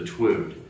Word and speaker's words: Twood: It's a family of sculptures and now paintings and animations featuring a character I call the Twood. It rhymes with mood.